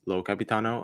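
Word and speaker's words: Io Capitano: surprise was cap uh I think low Capitano um is how it's pronounced from Italy getting nominated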